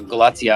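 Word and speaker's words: Galați: transloading facility at uh galatia i believe that's a pronunciation for those that are trying to find it g-a-l-a-t-i that's in southeastern romania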